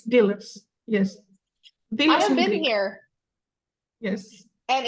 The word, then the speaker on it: Delos: sand after this um dillos dillos yes it's dillos yes been here yes